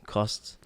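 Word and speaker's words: Costes: Hotel Costas oh yeah hotel cost cost yeah that was good French pronunciation cost there's a whole like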